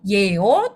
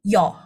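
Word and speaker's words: 요: Jadi bacanya yo bukan yeo tapi yo.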